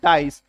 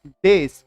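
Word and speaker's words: dais: गलत उच्चारण करते हैं, वो बोलते हैं डाइस। अब प्रचलन में है तो डाइस उनकी जुबान पे बैठा हुआ है, बट दिस इज डेस।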